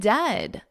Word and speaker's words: dead: And dead, it's said like bed, not bead, for goodness sakes, don't call it deed.